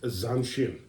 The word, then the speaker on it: zanshin: Forgive me if I mispronounce this, Okay. but I believe it's pronounced zanshin, which is constant awareness.